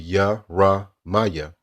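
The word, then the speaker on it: ירמיהו: So Jeremiah correct pronunciation will be Yaramaya. Yaramaya. Right? So that's how you say it in the ancient Hebrew tongue.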